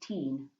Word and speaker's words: Tyne: Back then we pronounced it Teen, but it was just our word for river.